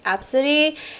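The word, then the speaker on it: Abcde: Oh, and I found like multiple stories about people with like A B C D E spelling name, and it's actually pronounced as Absidy.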